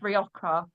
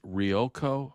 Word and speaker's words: Rioja: Rioco? What is that? That's not Rioja. It's Rioja. Riogjo, I think they spell it.